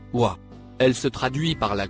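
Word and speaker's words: و: droite vers la gauche la première lettre en surbrillance jaune se prononce ouah elle se traduit par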